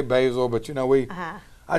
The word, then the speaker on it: Basil Hayden: Generations yep and uh some of them call it basil I've heard it how do you pronounce it I say basil but you know we